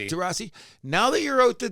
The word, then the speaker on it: Taurasi: Taurasi.